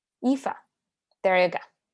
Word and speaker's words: Aoife: There was another question from Ify. I'm gonna say that wrong. I always get that name wrong. Aoife.